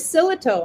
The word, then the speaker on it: Sillito: to be here today my last name is silito actually just how it's spelt so and i've been